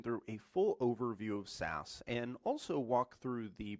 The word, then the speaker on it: Sass: And that is that there are actually two different types of SAS syntax. There is SAS that is spelled S-A-S-S, and then there's SAS that's spelled S-C-S-S.